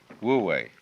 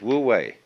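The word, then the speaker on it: wu wei: to realize du in one's life this is pronounced this one is woo and this one is we woo way we means to act to strain to strive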